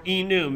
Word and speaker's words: enum: Or enum, if you like to pronounce it like enumerated.